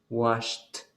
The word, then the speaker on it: washed: No hay vibración, entonces significa que lo va a pronunciar como una T. Kissed. Wash. No hay vibración. Washed.